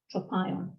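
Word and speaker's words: τρόπαιον: So in Greek, it's spelt tau, rho, Omicron, acute, pi, alpha, iota, Omicron, mu, tropion.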